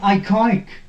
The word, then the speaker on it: iconic: is ending in ic in such a case when the word is ending in ic and it is multi-syllable word the stress is put on penultimate syllable here penalty mate penultimate